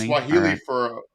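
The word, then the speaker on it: Fani: It's not Fanny, it's Fonnie. I've been pronouncing Oh, that name okay. All right. Yeah. Did not know that. Yeah, it's Fonnie.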